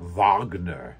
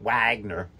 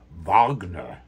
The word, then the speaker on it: Wagner: in German it's worms W's are are V's as in Vagner the great Jewish class classical uh com composer it's not Wagner like my best man David Wagner but Vagner anyway the conflict was